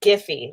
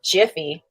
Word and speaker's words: Giphy: The other site where you can get good GIFs is called Giphy. So it's not Jiffy again, like Jiffy Lube.